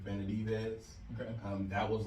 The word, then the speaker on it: Benavidez: I can't pronounce his last name. Benavidez.